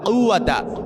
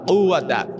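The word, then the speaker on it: قُوَّة: লা হাওলা ওয়ালা কুয়াতা এই যে কাফ এটা কিন্তু কফ ওই যে মধ্যখান বেচানো ওয়ালা যে কাফ আছে ওই কাফ না কিন্তু লা হাওলা ওয়ালা কুয়াতা এই কফটা আপনাকে ভালো করে উচ্চারণ করতে হবে লা হাওলা ওয়ালা কুয়াতা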